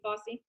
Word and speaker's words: Fauci: Fossey, I think that's how you pronounce his name. He came out, say it again. Dr. Anthony Fauci?